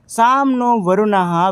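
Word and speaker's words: शं नो वरुणः: Indian navy contains the motto साम नो वरुणः pronounce साम नो वरुणः which means B ऑस्पी शियस टू अस ओ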